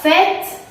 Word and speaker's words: fête: Entonces tenemos tu vas, que es vas, a la fête. A la fête, así una E muy grande está mejor.